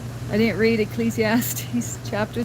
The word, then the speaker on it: Ecclesiastes: I didn't uh read Ecclesiastics, as I call it. I'm one of those who pronounce it wrong. I didn't read Ecclesiastes chapter 3 verse 1 and verse 11.